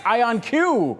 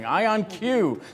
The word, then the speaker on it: IonQ: And at the NYSE, you've got a live look at, in today's game of how you pronounce this company's name. It's IonQ we are hearing, IonQ, ticker symbol, just like the company's name.